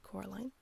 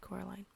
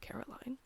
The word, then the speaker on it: Coraline: to you no said Coraline the old man Shrugged they are funny the mice they get things wrong they got your name wrong you know they kept saying Corine not Caroline not Caroline at all he picked up